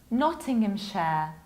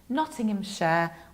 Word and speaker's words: Nottinghamshire: It's Nottinghamshire, Nottinghamshire. We drop H and we pronounce ending as shire, Nottinghamshire.